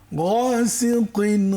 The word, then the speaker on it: غاسق: ومن شر غاسق إذا وقب গয়ের উচ্চারণ তো হয়ই নেই। غاسق غاسق غاسق, কণ্ঠনালীর শেষ ভাগ থেকে, হলকের শেষ ভাগ থেকে।